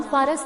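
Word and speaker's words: फ़ारस: अरबों की वर्णमाला में प उच्चारण नहीं होता है। उन्होंने इसे पारस के बदले फारस कहना चालू किया और भाषा पारसी के बदले फारसी बन गई।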